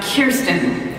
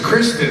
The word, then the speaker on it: Kirsten: someone on our show mispronounces her name for the 7,000th time. I like to stand right back and go, we're Kirsten. We're Kirsten. Kirsten. Hey, Kirsten, I thought it was Kristen.